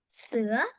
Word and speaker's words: Sữa: It's Sữa. Sua? Sữa. How do you spell that?